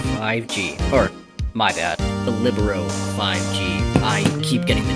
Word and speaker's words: Libero: and here it is here is the ZTE revelo 5G or my bad the libero 5G I keep getting the name wrong for some reason at first glance this